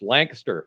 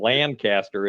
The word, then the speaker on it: Lancaster: fair city, often mispronounced, Lancaster. It's a single syllable, as I'm sure you being down in Maryland are aware, not Lancaster, as I'm inclined as a Midwesterner to pronounce it.